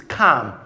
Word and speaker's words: calm: When combined with the sound M, it becomes silent. For example, as in the word calm. Calm, not calm. It's calm.